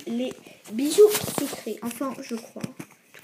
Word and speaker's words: Les Bijoux Sucrés: Donc je sais, ça s'écrit les bijoux sucres, donc c'est pour ça que j'ai mis l'accent en anglais. Je sais, ça s'écrit les bijoux sucres, mais ça se dit les bijoux sucrés.